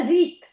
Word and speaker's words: zit: E la zit, va bene, La non la zet, la zit, perché La zit. la zet è un'altra cosa.